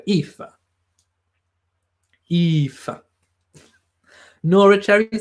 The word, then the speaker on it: Aoife: hmm the king says if is Irish it's pronounced Aoife oh well there you go Eva Eva Norwich Erica says